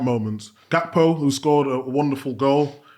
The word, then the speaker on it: Gakpo: But that was another one of those pronunciations like Wirtz. It's Gakpo.